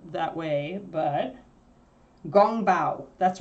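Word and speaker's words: 宫保: the actual pronunciation like I think Kung Pao is an Americanization or an English anglicization we uh what is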